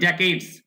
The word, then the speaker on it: decades: কার পরিসমাপ্তি বলছে, ডিকেড মানে দশক, তাহলে 50 বছর, প্রতি দশক 10 বছর 1 দশক হয়, ডিকেড উচ্চারণ ডেকেডস, ডেকেডস of brutal bath party rule.